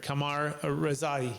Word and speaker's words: Kamyar Rezaie: much more please welcome show with me Mr Kamar Rai I pronounced that correctly yes you did thank you